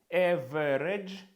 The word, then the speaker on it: average: Average наві ми читаємо a тут прибираємо ненаголошений і читаємо це як a r.